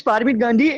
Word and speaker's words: Fatima Gandhi: probably the Gandhi we all know how to pronounce but farming permit please yes yes hi my name is Fatima Gandhi and I'm coming here the Sun never sets